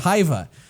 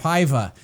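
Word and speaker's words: Hyvä: So I made the mistake until just this past week of calling it Hyva, and like a high five, Hyva, and I was kindly corrected on that. So it's Hyva.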